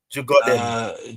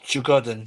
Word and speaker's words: Djurgården: Djurgården. Djurgården, yeah, Djurgården, yeah, yeah. Djurgården. I think it's Swedish. I think the D's pronounced as something else though.